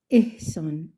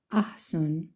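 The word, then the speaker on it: احسان: les met pas l'accent on sait que ça se prononce Ehsan et non pas Ahsan ou on et ça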